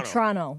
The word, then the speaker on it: Toronto: That's like people from Toronto get mad if you pronounce the second T. They say Toronto. Toronto.